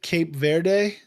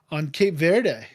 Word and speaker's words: Cape Verde: But the one of the other newest countries is it Cape Verde? Is that how it's pronounced?